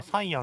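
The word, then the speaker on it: Cyan: 英語では本来サイアンって読むはずなんですけど Did you not do the menu?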